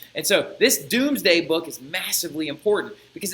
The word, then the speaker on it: Domesday: the Conqueror writes his doomsday book right I know it says Domesday but it's pronounced the Doomsday Book right and in the